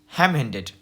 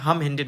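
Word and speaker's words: ham-handed: अब हैम हैम हैंडेड। देखिए हैम हैंडेड का मतलब क्या होता है, हम हैंडेड मत पढ़िएगा, इसको हैम हैंडेड पढ़ते हैं।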